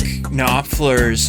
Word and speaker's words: Knopfler: Mark Knopfler's, I think that's how you pronounce his last name, Knopfler.